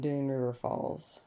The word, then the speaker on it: Dunn's River Falls: We learned that the S is silent in Dunn River Falls.